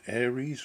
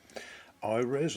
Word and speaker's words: Aires: as you can see this is called an aries or ires i think is the japanese pronunciation of it and this is the